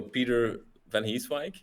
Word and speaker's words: Pieter Vanheeswijck: Um so Peter Vanheeswike uh to say it like this u living in a small city in Flanders.